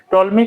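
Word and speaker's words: Ptolemy: टोलमी का पी जो है यह हमेशा साइलेंट रहता है। इसलिए पी टोलमी नहीं बल्कि टॉल मी पढ़ते हैं।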